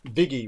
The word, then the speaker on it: Viggy: and it's funny because I actually don't go by in the normal pronunciation but where viggy comes from is Vicky with the New York accent so viggy likey Like